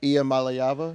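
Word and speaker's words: Iamaleava: Nico, how do you pronounce his last name? Uh, Ian Mallayyava.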